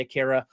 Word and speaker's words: Akira: anime film Aara, Akura, whatever you want to pronounce it. I say Akira.